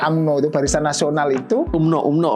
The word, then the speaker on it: UMNO: UMNO bacanya.